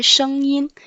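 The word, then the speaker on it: 声音: SH prononce sh, sh. ENG prononce en, le premier ton.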